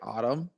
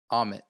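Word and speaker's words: Ammit: Autumn? Amit.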